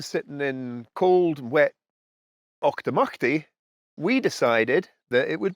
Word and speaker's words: Auchtermuchty: So Auchtermuchty is how that's pronounced.